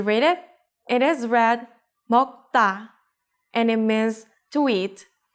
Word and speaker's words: 먹다: So 다 becomes 따, 먹다.